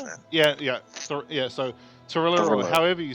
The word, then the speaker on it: Thalira: Oh man, I cannot pronounce that. Yeah. So Tarilla, or however you say it. She Thalira.